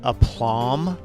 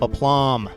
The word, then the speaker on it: aplomb: it with grace and aplomb. There's a silent B on that word, so watch out. If you guys haven't had that in vocab yet, here, I'll bring it up. Aplomb.